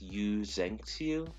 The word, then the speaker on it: Yu Zengxiu: It's pronounced Yu Zengxiu, or you could just call him Ulrich.